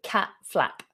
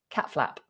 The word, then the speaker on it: cat flap: Notice I don't really pronounce the T on cat. I say cat flap, cat flap.